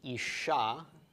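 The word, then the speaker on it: אשה: Okay, so aleph, sheen, he, the chiric under the aleph and a comets under the sheen. This is pronounced isha, isha, and isha is a woman.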